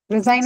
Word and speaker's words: resign: next is resign resign resign is what it's h second because this is a correct correct this is a verb hence on a second syllable suddenly suddenly first Sy